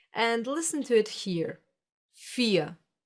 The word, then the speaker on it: vier: You don't hear the R? Listen again. Vier. Nothing? Exactly. This is one example for the silent R, the one that gets pronounced like a reduced A and is found in words ending in ER.